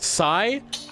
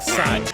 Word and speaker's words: Psi: Psi might go here because there's a P and you're like, why the hell is there a P when you're pronouncing it like Psi?